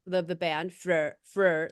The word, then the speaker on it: Freur: understand am I pronouncing the band name right? Freur, Freur.